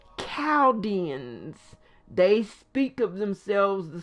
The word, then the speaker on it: Chaldean: and written about in the bible most people pronounce it childians because it's c-h-a-l-d-e-a-n but it's pronounced cowdens they speak of themselves the same they say chaodians so that's why i know as cabins um